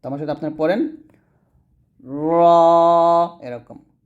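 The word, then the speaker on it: ر: এরকম ভাবে তারপর হচ্ছে র বলি রা বলা যাবে না এখানে আকার নাই আকার ব্যবহার করে করা যাবে না বলতে হবে র তো আমার সাথে আপনারা পড়েন র এরকম র তারপর হচ্ছে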